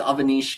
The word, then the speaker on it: Aanish: name being butchered but it's Aanish guys. Come on. I know Avin is a much more common name but Avananish is the right pronunciation.